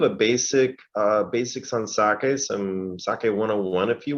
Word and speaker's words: sake: all said it correctly it's pronounced sake not saki it's critical we teach